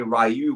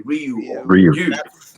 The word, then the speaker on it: Ryu: Street Fighter everyone or often people say Ru but is actually Ryu and that's how I